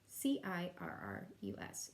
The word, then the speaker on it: cirrus: work on is serious spelled a little funny not like you would imagine if you were spelling it phonetically it starts with this off C so it's C irr u.s.